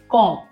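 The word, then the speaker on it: comb: जैसे कि सी ओ एम बी कॉम इसे कॉम ब नहीं बोलेंगे। इसमें ब जो है वो साइलेंट रहेगा।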